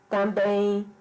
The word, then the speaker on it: também: São 2 sílabas. Também. A sílaba pronunciada com mais intensidade é a sílaba bem.